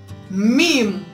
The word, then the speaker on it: meme: to the next what next word is meme like moose remake my day like